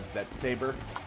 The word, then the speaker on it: ZET Saber: Mega Man Legends, but it's called ZET Saber. Fun. Like it's spelled out Z-E-T-S Saber.